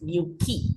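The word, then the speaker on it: Newquay: because city names usually q u a y is pronounced key in English so I just looked up the pronunciation yeah so this is pronounced new key not very important but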